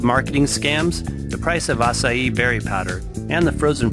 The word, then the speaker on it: acai: a budget what are acai berries acai pronounced acai is native to one of the largest biodiverse